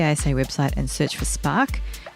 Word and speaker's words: SPARC: Alternatively, if you are a member, you can go to the ASA website and search for SPARC, which is spelt with a C and stands for the Scientific Prizes, Awards and Research Committee.